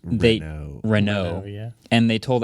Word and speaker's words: Renault: It's pronounced Renault.